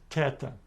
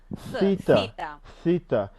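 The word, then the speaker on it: θήτα: in the word obey the next letter is tetan and it gives us a sound as in the word top Tata something like between a two and something else maybe third Ted I don't I cannot do that because I don't have it in we don't have it in modern grades how would you pronounce this correctly how would you pronounce this correctly the letter Sita but did you notice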